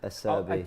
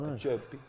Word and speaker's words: Acerbi: a Acerbi, not a Serbi, Acerbi. which actually is his surname as well. Okay. You probably get Oh, about wow. 4 out of 10 with the English lot. Acerbi.